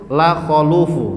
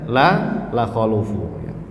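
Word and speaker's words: خلوف: Nah, jadi yang benar itu la khalufu bacanya ya, la khalufu.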